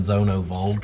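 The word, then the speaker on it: Zündfolge: That's the Zonenvolge. The Zonovolge. That's how you say it in proper German, Zonovolge.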